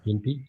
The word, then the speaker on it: Gympie: God, that word sounds funny when people say gimpy. How is it? I'm sorry, I butchered it.